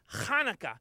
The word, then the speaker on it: Hanukkah: They're teaching me a really fun game that's played at Hanukkah. Actually, Telly, it's pronounced Hanukkah, you know, with more of a ha.